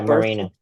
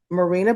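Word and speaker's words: Mirena: Would Marina am I pronouncing that right? M I R E N A Marina Marina birth control have any contributions towards the cancer if BRCA was negative?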